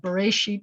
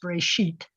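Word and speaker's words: בְּרֵאשִׁית: an accented syllable so this word is not bereishit it's very sheet because the accent's over here and then it will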